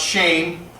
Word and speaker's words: Shem: Shem ham and jath Shem is actually pronounced shame and it just and